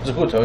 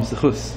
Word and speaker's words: Zakuto: Is his Zakuto? Yeah. Rabbi Avram Zakuto. Zakuto, yeah. Zakuto, and we call him Zchus because Ashkenaz pronunciation.